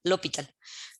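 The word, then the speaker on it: L'Hôpital: si ustedes la buscan se escribe de esta manera el hopital como que luego por el inglés la pronuncia como jota pero en realidad en francés que es el de dónde viene este nombre pues no se pronunció pero les digo en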